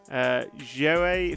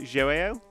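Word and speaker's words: João: Joe Figueiredo is Joao.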